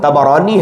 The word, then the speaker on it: طبرانی: حدیث کو امام طبرانی نے اس کا صحیح تلفظ طبرانی ہے، اس میں جو ہے وہ روایت کیا